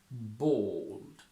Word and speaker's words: bald: oh bold bold bold when you want to say someone without hair you just go with one movement forward bald bald bald bold bold